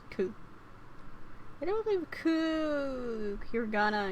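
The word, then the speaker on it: く: You pronounce it as ku.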